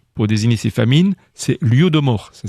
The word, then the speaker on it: Holodomor: Et les Ukrainiens ont justement un mot pour désigner ces famines, c'est l'Holodomor. Ça s'écrit H-O-L-O-D-O-M-O-R dans les transcriptions en français.